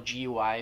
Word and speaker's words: gui: For example, GUI is pronounced Gui. Now, this UI is actually an abbreviation of UEI. So the UEI is abbreviated down to UI.